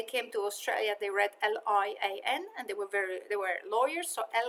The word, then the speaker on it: Lian: If you want to reference it, you can say that, you know, we're using Lian's. We pronounce my name Lian, right? Lian. So my family pronounces it as Lian.